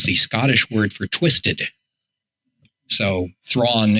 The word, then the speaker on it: Thrawn: word for twisted so Thrawn is twisted his adopt does not rhyme with my name and it's not at